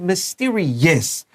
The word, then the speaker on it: mysterious: And we're going to circle OUS at the end of mysterious. 这个 OUS 结尾 is really useful. You know it's almost always an adjective, and 小心发音它发 is. Mysterious.